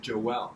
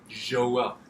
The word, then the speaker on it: Joelle: No, you said Joelle, and it's pronounced Joelle. Je. It's slightly French.